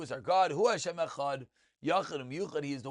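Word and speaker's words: אחד: So everyone has heard it's Echad, but again, you want both to pronounce the Ches a little more and the Dalet to be perfectly pronounced.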